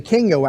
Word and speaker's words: Kyngo: Now, this all spun off of, again, the Kingo app, which is spelled Kyngo.